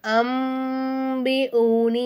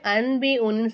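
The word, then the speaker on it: أَنْبِئْهُم: நமக்கு உடைய சட்டம் வருது நூனே சக்கினுக்கு அடுத்ததா பா வந்திருக்கா இந்த மாதிரி வந்துச்சுன்னா நம்ம நூனே சாக்கின் என்ன செய்யணும் மீமா மாத்தி உச்சரிக்கணும் அப்போ இந்த இடத்துல நம்ம என்ன செய்யணும் அம்பி ஊனி அப்படின்னு சொல்லணும் அன்பி ஊனின்னு சொல்லக்கூடாது அம்பி ஊனி அப்படின்னு சொல்லணும் பி அஸ்மா இஹா உலா இப்ப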